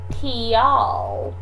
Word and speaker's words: kial: And if you say Kiel, then I can't tell if you're asking Kiel, how, or if you're asking Kial, why. So we need to work on that pronunciation, particularly when it comes to the correlatives, because you can get confused so fast by kind of blurring your vowel sounds together.